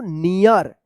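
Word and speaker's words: near: हम बताए थे कि ई ए के बाद अगर लास्ट में आर रहता है तो इस इ ए का इ उच्चारण होता है तो क्या पढ़ेंगे इसको नियर क्या पढ़ेंगे इसको नियर द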